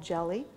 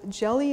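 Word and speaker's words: GELI: is use something called jelly which is built into freebsd i actually had a question last week where somebody asked about how cryptographically secure jelly is so jelly is spelt g-e-l-i and if you do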